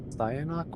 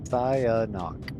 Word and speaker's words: Cyanok: Cyanok, we've been over. Cyanok, I know, but hey, don't start with me. At least my commander name, pretty much is pronounced the way it looks. Cyanok.